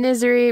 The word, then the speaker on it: Niserie: stella misery hey i'm misery rhymes with misery uh she is a